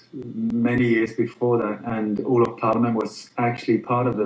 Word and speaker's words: Olof Palme: Olof Palme. Olof Palme, and which was the Swedish Prime Minister, correct?